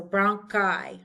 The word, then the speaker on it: bronchi: When I is at the end of the word, the terminal I, we pronounce it like eyeball. So bronchi, fungi, nuclei. Pronounce like an I.